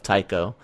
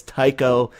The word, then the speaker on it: Tycho: and I'm glad that I had the proper pronunciation of Tycho, because I've heard people pronounce the CH as a cho instead, and I've like, no, all my life I've read it as Tycho.